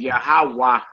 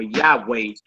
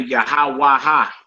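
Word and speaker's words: יהוה: Hey is silent if it ain't got nothing underneath it. Say, right. Just like in the Most High's name, that's the last letter in his name. Yahawah or Yahweh. But we don't say yahawaha or yaheha. You feel me?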